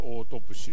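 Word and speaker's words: autopsy: いうのをま解剖なんですけどオートプシーと読むんですねですから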